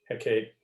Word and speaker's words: Hecate: How would you pronounce Hecate?